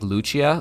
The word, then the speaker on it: Lucia: magic number 1K Lucci you say it like Luchia like like Santa Lucia Deoxys Okay cool so